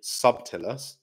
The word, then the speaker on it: subtilis: So if you read it, it's actually subtilis, but you don't pronounce the B. It's a silent B.